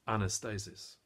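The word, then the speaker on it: ἀνάστασις: in the original language the word resurrection is pronounced Anastasis it translates literally as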